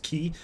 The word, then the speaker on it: χ: It's pronounced cheat, idiot. Actually, no, it's not. It's pronounced key.